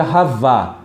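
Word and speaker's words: חוה: E o nome Eva, você vê que pronuncia Havá.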